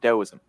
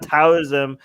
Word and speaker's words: Taoism: It's not Taoism. It's spelled with the T, but the T is pronounced with the D.